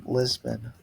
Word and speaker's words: Lisboa: If I go here and I come back to the 25th, and I go from Lisboa, that's how they say it, to I want to go to Porto, and me being I want to say Porto.